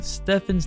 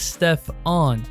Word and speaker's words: Stephen: in their pitch meeting they started by pronouncing Stefan's name as Stefon Stefan Curry you know what I'm saying